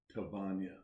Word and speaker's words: Tvonia: Nope. Tvonia. There's no R.